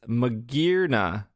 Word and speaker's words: Magearna: And I was explaining to Will because I saw Mage, Mage, and I didn't see Gear.